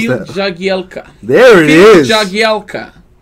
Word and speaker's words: Jagielka: Help me pronounce Phil that. Jagielka.